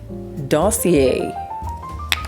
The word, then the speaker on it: Dossier: To pull more feminine, you pair it with dossier. You know, that would be funny if Glossier and do like if these two are pronounced differently. That would be so funny. It is pronounced differently.